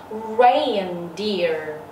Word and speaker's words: reindeer: Reindeer, reindeer. Âm e i, reindeer, reindeer, reindeer là con tuần lộc.